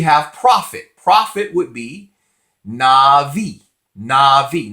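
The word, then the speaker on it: נביא: profit profit would be Navi Navi not some people say now be not be but we're pronouncing the sephardic so that it of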